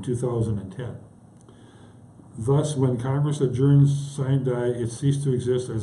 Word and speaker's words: sine die: Instead, Congress adjourned sine die, pronounced sine die, without a day, and adjournments an adjournment sine